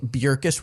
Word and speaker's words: Bjerkes: But So speaking of Paige Bjerkes, world champion 2018 FPO. nice pronunciation.